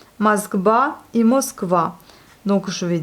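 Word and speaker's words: Москва: Donc Moskva, voyez, le O n'est pas accentué, il se prononce plutôt comme un A et non pas comme un O. Donc on a ici Moskva, Moskva et Moskva.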